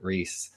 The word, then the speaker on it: Reis: Eric Ries I pronounced your name right I forgot to ask